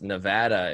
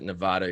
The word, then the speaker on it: Nevada: we're you right now we're in Nevada it's Nevada if you ever pronounce it Nevada you'll get yelled at I found that out